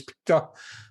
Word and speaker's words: PETA: under threat because PETA, and I think that's how the American Animal Rights Group acronym is pronounced, I'm pretty sure it's PETA, have called on baseball